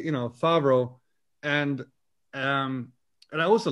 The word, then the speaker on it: Favro: spelled uh you know if you say fabro it sounds like you know like john favreau uh obviously you know